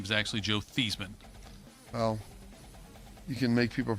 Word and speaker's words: Theismann: I understand the Theismann for Heisman. Yeah. It rhymed.